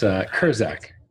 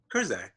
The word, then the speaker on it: Kurczak: It's Kurczak. Kurczak.